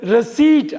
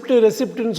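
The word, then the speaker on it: receipt: ரசீது அப்படின்னு தமிழில், ரசீது வந்து ரெசீட் அப்படின்னு நம்ம ஆங்கிலத்தில் சொல்லணும். ரெசிப்ட்னு சொல்லுவாங்க.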